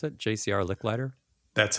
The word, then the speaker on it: Licklider: Is that how you pronounce it? JCR Licklider.